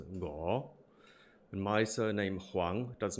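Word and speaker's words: 吳: There's my deputy surname Wu becomes Ngo.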